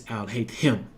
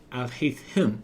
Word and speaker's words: Alhaitham: No, it's Alhaitham. Okay? Ain't no Atham, ain't no thum, ain't no H up to now. The only H is pronounced with the H is him, not the no. Alhaitham.